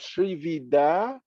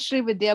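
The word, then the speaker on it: Srividya: Okay, so I see the hand of Sri Vida. So please go ahead, Sri Vida. You can. Yeah, I'm sorry, I'm not sure. Forgive me if I mispronounce your name. Oh, no, it's pronounced as Sri Vidya, but you're fine.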